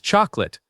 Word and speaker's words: chocolate: Number 22 is chocolate. Same story here. It looks like it has three syllables, but we say two. Chocolate.